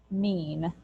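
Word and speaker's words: mien: am beholden to someone number six is pronounced mean exactly the way m-e-a-n is pronounced uh and it just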